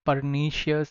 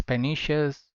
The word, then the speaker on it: pernicious: This is not pernicious, this is pernicious.